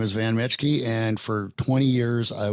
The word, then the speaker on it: Metschke: the format for this interview I've got van mechke who we are going to did I pronounce that right van mechke yep all right we got it nailed it